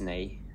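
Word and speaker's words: nej: hey oh just hey yeah hey no is nay oh is it like German and Dutch yeah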